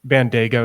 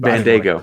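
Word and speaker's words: Bandaogo: That's Bandago is how you say it. Bandago.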